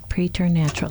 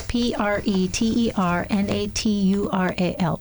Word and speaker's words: preternatural: I was talking with my son earlier and he mispronounced it and he kept mispronouncing it. And so, I have got to make sure that I say preacher natural.